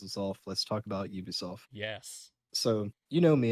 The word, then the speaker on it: Ubisoft: I thought Wildlands was probably one of the greatest games of this generation, but Ubisoft, or Ubisoft as it's actually pronounced, they have on their earnings call they had just a couple of days ago talking about last year's fiscal results.